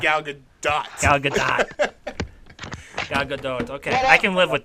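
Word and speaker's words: Gal Gadot: I'm going to play it right now with Galadote. Here's G. Oh, Galadote. Galadote. And it's not Galadot. Yeah, it's not. It's Galadote. Yeah, it's not Galado. And it's definitely not Galadot. Galadot. Galadote.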